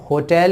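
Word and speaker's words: hotel: अच्छा, पुराने यूज की बात करें तो पहले इसे पढ़ा जाता था होटल, ओ का साउंड आता था, लेकिन मॉडर्न इंग्लिश में याद रखिएगा इसे होटल ही पढ़ा जाता है, ह साउंड आता है यहाँ पर, और इसलिए यहाँ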